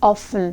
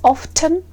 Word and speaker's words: often: By the way, speaking about the word often, you can pronounce it with often without T or often with the sound T. So usually British people will say with T sound often, so that sounds alright, don't worry about that.